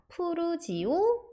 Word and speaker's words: 푸르지오: 지오라는 그 단어를 따와서 푸르지오 렇게 발음을 하고요이 geography 하면 지리학 지형이라는